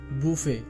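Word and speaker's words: buffet: উচ্চারণ হবে কসন কসন বাফেট এটি ভুল উচ্চারণ এটি সঠিক উচ্চারণ হবে বুফে বুফে দ্বিতীয় পর্বটি পেতে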